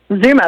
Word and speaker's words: Zuma: Zuma, that's right, like the beach.